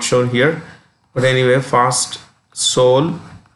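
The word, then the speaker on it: Seoul: here but anyway fast soul the e is silent soul and the currency is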